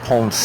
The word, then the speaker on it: Ponce: What was really surprising is we went through a city called Ponce, that's spelled P-O-N-C-E.